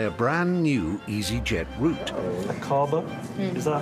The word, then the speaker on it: Aqaba: Aqaba? Is that how you would pronounce it? Yes, Aqaba.